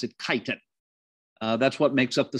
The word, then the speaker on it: chitin: complex carbohydrate called chitin spelled chitin but we pronounce it chitin that's what makes up the cell walls of